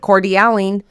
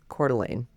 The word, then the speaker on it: Coeur d'Alene: It's c o e u r space d apostrophe a l e n e. It's It's French.